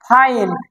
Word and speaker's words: fine: তো FINE, ফাইন। Class 8 এর পরে হয় 9, দেখেন 9 বানানটা দেখেন না, NINE, 9।